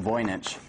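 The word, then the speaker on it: Voynich: voich manuscript and the voich manuscript and that's pronounced voyich has been the subject of intense interest by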